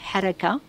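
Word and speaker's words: حركة: Alors le mot harki trouve ses racines dans le mot haraka, haraka, pour le prononcer en arabe, parce que c'est un mot arabe, qui veut dire mouvement.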